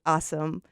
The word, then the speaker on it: Awsumb: And you guys, his last name really is Awesome, but spell it for us. Yeah, so it's actually spelled Awsumb. So I like to say it's the phonetic spelling.